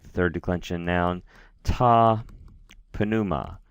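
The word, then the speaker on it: πνεῦμα: And remember, we do in fact pronounce those two consonant sounds distinctly, pneuma. Ta pneuma, tu pneumatas.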